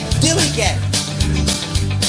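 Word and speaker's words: DILLIGAF: And I can relate to their attitude too in a word, Dilly Gaff. That's spelled D-I-L-L-I-G-A-F.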